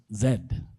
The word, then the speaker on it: Z: we've labeled the Gen Z's. Okay. It's interesting because I grew up knowing that that letter is pronounced zed but now we say Z.